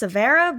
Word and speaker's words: Severa: Well, it's pronounced Savera, but yes.